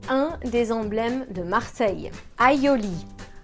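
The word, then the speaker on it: aïoli: Aioli. Aioli.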